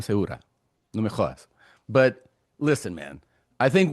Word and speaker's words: Segura: You got Tom Seagura on your side. You You It's not pronounced. It's Sigura. No, it's Tom Seura.